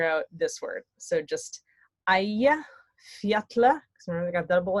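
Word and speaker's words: Eyjafjallajökull: So just Aya Fjatla, because remember they got double L, Jökull. Aya Fjatla Jökull.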